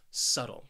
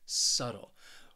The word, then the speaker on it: subtle: for you is subtle this word has two syllables and the stress is on that first syllable subtle say it with me subtle what this word means